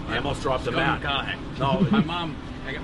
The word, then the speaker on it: McConaughey: I mean Mcconaughey. but I feel like that doesn't roll off the tongue. That rhymes with what would Madonna say?